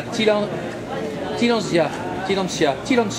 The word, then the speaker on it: Tillandsia: C'est la fille de l'air, la Tillandsia, voilà pour la prononciation.